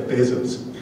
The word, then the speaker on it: Bezos: and I actually got to hear Jeff Bezos pronounce his own name it's Jeff Bezos so this poem is a response to a